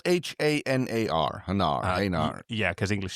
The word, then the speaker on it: Hanar: Hanar is the species from Mass Effect that I It's spelled H A N A R.